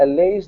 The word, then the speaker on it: Allies: Usually it would be like a ease sound, but in this particular word, it's a long I. So allies. Yes, thank you.